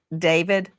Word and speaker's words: D4VD: What a coinkydink that David, some people look at his name and it looks like D4VD, and he pronounces it David.